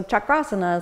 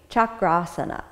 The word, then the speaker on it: chakrasana: designation as opposed chakra is a wheel so chakrasana is literally the wheel pose so it's to